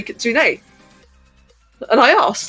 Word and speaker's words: kitsune: in a voice chat, I heard Draki say Kitsune. And I asked, like, oh, is that how it's supposed to be pronounced?